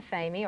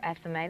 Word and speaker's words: athame: It's called an athame or athame. There's different ways to pronounce it.